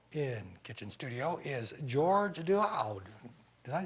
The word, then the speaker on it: Daoud: With me now in kitchen studio is George Daoud.